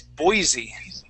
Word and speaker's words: Boise: is the capital city in Idaho that is Boise Boise there you go Boise okay um the